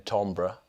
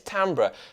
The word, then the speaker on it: timbral: right cuz I heard I was told of saying tombra I've learned it's tambra right is that what you say I say tombra I no but I was saying it's tambra tambra or tombra anyway